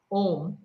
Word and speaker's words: om: We have this om, which is split in three syllables: a, u, m.